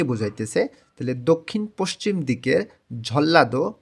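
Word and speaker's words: 전라도: তাইলে দক্ষিণ পশ্চিম দিকের ঝল্লাদো মানে নিউন বাচ্চিমের পরে যখন রিউল থাকে তখন এই ন টাকেও ল এর মতন উচ্চারণ করতে হয় এটা ভাতমের নিয়ম তাহলে এখানে হবে ঝল্লা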